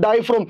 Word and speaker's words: diaphragm: structure is called diaphragm in diaphragm the letter g is silent my de student this is called diaphragm and the question is